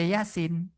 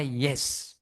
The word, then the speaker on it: Yasin: Dia nggak baca Yasin, dia baca Yes.